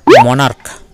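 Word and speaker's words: monarch: form করবো যেমন দেখো মনার্ক এম ও এন এ আর সি এইচ সি এইচ এর উচ্চারণ দেখো এখানে ক এর মত হয়েছে এখানে কিন্তু মনার্স উচ্চারণটা হবে না এখানে উচ্চারণটা হবে মনার্ক তাহলে ক এর মত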